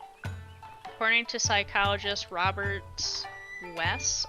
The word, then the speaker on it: Weiss: So it says, according to psychologist Robert Weiss, I think is how you say this, is Weiss, W-E-I-S-S.